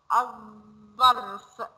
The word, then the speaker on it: الظرف: طيب تعالوا كده نشوف اللام الشمسية، بنقولها الظرف. بصوا نطقناها ازاي، أظ، الظرف، الطائرة، الضفدع، الصندوق، الشمس، الديك، الثوب، التفاح، النحل، اللعبة، السماء، الرجل، الزرافة.